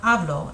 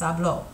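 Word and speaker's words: hablo: there's an accents there you're going to add a stress on that syllable it's not ablo it's ablo okay so it's a little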